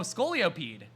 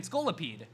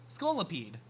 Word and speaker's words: Scolipede: Oh, scolioped. I mean, scolipede. I always pronounce it as scoloped, but then like I don't see a second O, so like all right then. Skolipede.